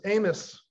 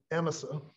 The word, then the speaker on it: Amasa: great-great-great-granddaughter spent an afternoon correcting me when i'd say amasa holcomb should say it was amos or emma holcomb looks like amazon to me but apparently the pronunciation back in 1790 was more like amos or emesa but i'll say the